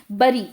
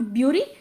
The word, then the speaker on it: bury: Please check the pronunciation of this word, it's नॉट ब्यूरी, इट्स बरी, क्योंकि बहुत बार इसे मिस प्रोनाउंस किया जाता है। ब्यूरीड बोल देते हैं या ब्यूरी बोल देते हैं, बुरी बोल देते हैं, लेकिन इट्स नॉट all that, it's बरी, BURY।